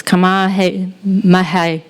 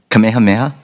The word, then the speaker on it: Kamehameha: as head of school and I'm going to mispronounce this kamah Mah schools kapalama and but that was good yeah how did you say it Kamehameha Kamehameha and prior to that a superintendent of